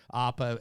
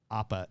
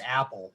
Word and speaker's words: APAA: the spiel on what APAA is? Okay, so it's we pronounce it APA, but that's There you go. but I think a lot of people when they hear that they think it's Apple.